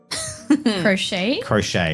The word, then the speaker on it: crochet: Crochet. Yeah, sure, it's great. Thank you for correcting my pronunciation.